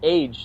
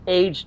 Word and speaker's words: age: got to ago tofu it's pronounced age though age tofu and if i say aged tofu they look at me like an idiot i gotta say like